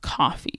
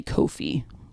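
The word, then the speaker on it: Ko-fi: So, what I'm I'm right now using uh coffee, which I always want to say Kofi the way that it's spelled K O F I Kofi.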